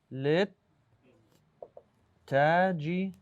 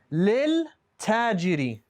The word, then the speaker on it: للتاجر: So this lam, this one here, lit, we went straight from this lam to the ta.